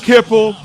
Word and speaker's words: Hipple: I'll give you one of the quarterbacks' last name rhymes with nipple.